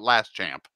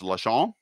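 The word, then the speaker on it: Laschamp: this stupidly but i think you pronounce this la chan uh is how you pronounce that word not less not last champ it's la chong and they're called their that's the word it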